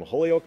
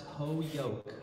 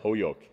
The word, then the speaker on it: Holyoke: All the way from Holyoke, Massachusetts, the Faithways Band. It's actually pronounced Ho-yoke. Ho-yoke. As in the whole yolk of an egg without the L.